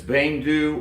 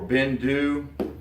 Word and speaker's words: Beinn Dubh: talk to, but it's Beinn Dubh or Beinn Dubh, something like that. Some people put a little bit of a V sound on the end of the second word.